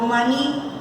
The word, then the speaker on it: maní: por ejemplo yo digo maní, maní su sílaba tónica en la última sílaba.